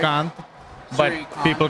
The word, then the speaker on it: Shrikant: Am I pronouncing that right? Shrikant, but Shrikant.